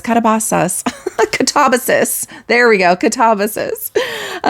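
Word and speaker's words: Katabasis: Kabasas Katabas Katabasus.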